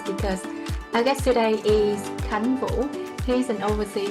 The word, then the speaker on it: Khánh: Welcome to Humans of Authenticity, Khánh. Thank you, V. My name is how you pronounce it in Vietnamese, but Khan would be the American pronunciation.